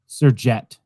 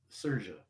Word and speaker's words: Sergey: Okay, Thomas Sergett. How's that, Thomas? No, not it. Can't be a jet. It can't be jet, but it's Sergey.